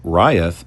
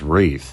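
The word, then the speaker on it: Reith: A correction I must make is the pronunciation for what I called Ryth, which is actually said as Wreath.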